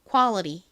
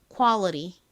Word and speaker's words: quality: 빠은 어에 비슷하게 소리가나요 그리고는 원래 티 소리가 나는데이 단어를 이제 미국식 원어 발음을 할 때는 요를 버터 듯이 약간 느끼하게 이렇게 리처럼 좀 꼬아서 발음을 하거든요는이 소리 나죠 그래서 요렇게